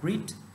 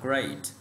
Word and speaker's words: great: Ví dụ đầu tiên, từ này ta học một số bạn hay đọc là greet, từ này ta đọc là great, ok, great.